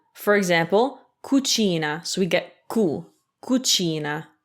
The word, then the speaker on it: cucina: u it's again a hard c for example kuchina so we get ku kuchina kuchina so kumunkwe